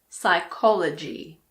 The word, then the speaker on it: psychology: Well, we don't pronounce P if it comes at the beginning of a word before an S. For example, pseudoscience, psychiatrist, psychic, psychology.